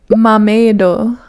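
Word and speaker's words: マーメイド: Anyways, so, mameido. Mameido is how you say mermaid in like the loan word.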